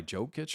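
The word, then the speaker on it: Jokić: Nikolai Jokic or something?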